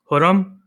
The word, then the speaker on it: Khurram: If you know me, me calling myself Khurram might sound weird because the K is silent. It's actually pronounced Khurram.